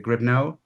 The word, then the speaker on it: Gribneau: Then we have Christian Grio. Christian, am I pronouncing your name correctly? Is it Grio?